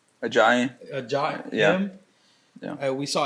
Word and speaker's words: Ajayi: How do you pronounce his name? Ajayi.